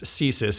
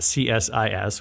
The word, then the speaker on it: CSIS: right American listeners may be somewhat familiar with ceases and it's important we should say because also we're in Washington it is pronounced thesis it is not csis which is a very prominent Think Tank here